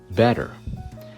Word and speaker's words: better: Just as you don't say the T in listen, the TT in better is pronounced D. Better.